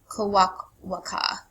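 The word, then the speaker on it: Kwakwaka'wakw: And again, I think the way you pronounce the tribe name is Kawak-Waka.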